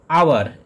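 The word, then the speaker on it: hour: আওয়ার, এটি যদিও consonant letter দিয়ে শুরু হচ্ছে কিন্তু এর উচ্চারণ হচ্ছে অ সাউন্ড, অর্থাৎ ভাওয়েল সাউন্ড, সেই জন্য এখানে প্রথমে বসবে অ্যান, অ্যান আওয়ার।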